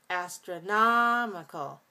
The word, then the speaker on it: astronomical: get to the adjective we again have this alternation of clear reduced clear reduced so astronomical astronomical astronomical adverb astronomically astronomically next